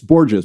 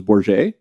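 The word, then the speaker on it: Bourges: not Hispanic it's not its borgeous bo our GES but the true pronunciation is börje oh yeah so my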